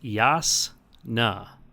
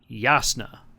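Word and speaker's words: Jasnah: It's Yasna. Yasna, officially canon.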